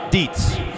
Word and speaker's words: Dietz: In lane 2, from McMaster, Brian, say it just like it's spelled, Dietz.